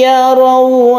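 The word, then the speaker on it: يروا: Kemudian ya raw membentuk huruf u bukan o.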